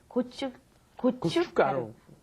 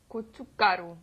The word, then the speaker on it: 고춧가루: There's a shiat 받침 there, and it's not pronounced. So when you look at it, it looks pretty hard to pronounce. But 고춧가루. 고춧가루.